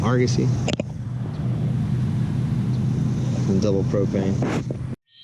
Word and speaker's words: Argosy: How do you pronounce that? Argosy. Argosy.